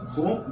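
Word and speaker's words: बूं: लिखा हुआ है ओम बूम बुधाय नमः। ब पे ऊ की मात्रा ऊपर बिंदी, बू लिखा हुआ है, लेकिन इसका प्रोनाउंसिएशन होगा ओम बुम बुधाय नमः।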